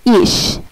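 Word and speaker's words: ich: আচ্ছা, এই যে যেমন আইসিএইচ ইশ, আবার বিইউসিএইচ বুখ, আইসিএইচ ইশ, আবার বিইউসিএইচ বুখ।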